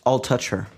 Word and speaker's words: Altucher: but I like it Ice T said it's pronounced Al touch her what' you say I'll touch her yeah oh